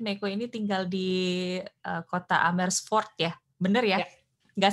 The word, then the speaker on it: Amersfoort: Meiko ini tinggal di kota Amersfoort ya, bener ya? Ya. Nggak Ya. salah ngomong, saya udah fasih Enggak, pengucapannya. benar-benar Amersfoort. Ya. Amersfoort.